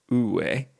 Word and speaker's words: Wu Wei: Now, I've also heard this pronounced U Wei. And I'm sure I'm butchering the Mandarin. I don't have the tonality that is necessary to really speak that language, but I think that's close enough.